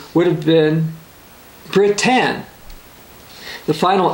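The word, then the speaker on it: בְּרִית: The Hebrew word for covenant would be pronounced in its anglicized form as Brit.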